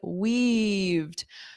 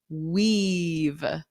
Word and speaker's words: weave: Okay, so the first one, they weaved. So let's practice that pronunciation because we have wave, hello, hello, but then this is weave, eve, weave. So that long E sound, they weaved.